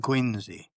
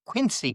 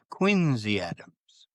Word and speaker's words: Quincy: And I said, and she said, "That's how it's pronounced." She was born in in Quinzy. Cuz I I hear so often people say John Quincy Adams. Quinzy Adams.